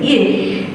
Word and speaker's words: ich: was finally able to hear and say ich which is the correct pronunciation of i in german you can imagine with